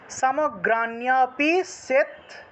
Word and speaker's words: সমগ্রাণ্যপি: সমগ্রাণ্যপি সেৎস্যন্তি সেৎস্যন্তি সেৎস্যন্তি, এইভাবে। সমগ্রাণ্যপি সেৎস্যন্তি সমগ্রাণ্য, এখানে মূর্ধন্যের সাথে জফলা আছে, সেজন্য নিয় উচ্চারণ হয়েছে।